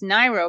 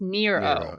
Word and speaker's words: Nyro: And then after she left high school, she changed it to Nyro, which you'd think would be pronounced Niro, but according to Wikipedia, at least, it's pronounced Nero.